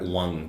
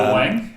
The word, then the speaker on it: Wang: Now, I speak Mandarin, so I would pronounce that Wang. But he's a Malaysian English comedian, and he calls himself Phil Wang, so he's Wang. Good on you, Phil Wang.